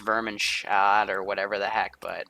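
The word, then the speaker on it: Wehrmacht: know why it does cuz I pronounce Wehrman shat even though it's vermin shot or whatever the heck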